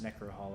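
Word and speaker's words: Necrohol: over run with beasts necro Hall is how you pronounce that okay Necker Halloween we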